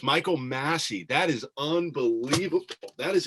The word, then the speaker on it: Massey: Welcome to Michael Massey Day.